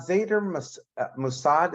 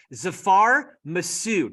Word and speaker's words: Zafar Masood: leadership so uh zader Mossad is that how you pronounce his name Zafar Zafar Masood you're forgiven it's a Pakistani name Zafar Masood so he